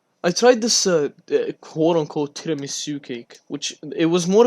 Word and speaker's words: tiramisu: Tiramisu or tiramisu? No, it's tiramisu. Tiramisu. No. I'm pronouncing the I as an E.